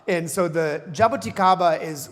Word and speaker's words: jaboticaba: Um it is not pronounced jaboticaba. So, it is jaboticaba. And so, the jaboticaba is like a Brazilian grape.